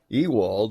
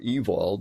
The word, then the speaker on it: Ewald: Josiah's finding in the book of the law Ewald or Ewald depending how you want to pronounce the name lived in the late 1800s